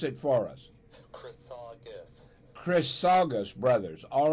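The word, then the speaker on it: Chrisagis: Greek name Greek all right very good now pronounce it for us chrus Chris sagus Brothers all right now I know how to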